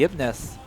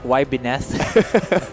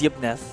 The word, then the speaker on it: Yibneth: They're hovering over the Yibneth. Yes, that is how I pronounce it. I asked yeah, my co-caster the other, I thought it was like why Bineth. No, it's Yibneth.